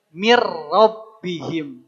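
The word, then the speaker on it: مِن رَّبِّهِمْ: Bila dengan tidak pakai gunah maka min rabbihim bacanya cukup dengan mirbihim. Jangan sampai ada gunahnya mir jangan sampai begitu ya.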